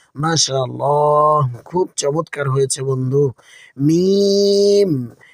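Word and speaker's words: ميم: মিম। মিমের মাখরাজ হলো দুই ঠোঁটের শুষ্ক বা বাইরের শুকনো অংশ থেকে। যখন আমরা এটি উচ্চারণ করব, আমাদের দুই ঠোঁট খুব স্বাভাবিকভাবে বন্ধ হবে এবং খুলে যাবে।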